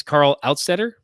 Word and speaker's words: Karl Altstaetter: for those just joining us um it is carl outsetter yeah i hope yeah and um when i